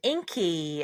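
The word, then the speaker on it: Ingi: close it out with Corona age 30 and Inky as it's pronounced but but it's spelled iing age 38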